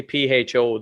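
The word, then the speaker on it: phở: Apparently, PHO, the food, we thought was pronounced differently. They pronounce it out there as like fur.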